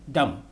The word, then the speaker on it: dumb: summon not solomon summon and lastly thumb and dumb the letter b in both words are silent i've seen the movie